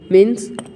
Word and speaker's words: mho: यहाँ पे ओहम, ये इसका स्पेलिंग क्या है ना, OHM, और यहाँ पे इसका यूनिट क्या है ना, MHO मीन्स मो.